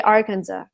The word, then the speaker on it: Arkansas: is for the state Arkansas right because it's spelled like Arkansas I would ask on the end but you're gonna say Arkansas is that correct yeah it's very strange so a lot of the states in the u.s.